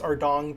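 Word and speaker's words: Ardougne: After that, I worked my way to Ardong, how do you say? Oh yeah, it's Ardong Temple to do the quest Monk's Friend and celebrate finishing the quest with a party!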